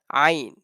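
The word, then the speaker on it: ع: after Ha we have Ain. Ha and Ain, they have same point. They are pronounced by the center of our throat, middle of our throat.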